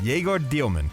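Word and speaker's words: Dëmin: Yegor Dielman.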